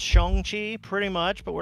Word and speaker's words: Shang-Chi: Yeah, well, Shang-Chi should be pronounced Shang-Chi, pretty much, but we're not going to ever possibly, do that.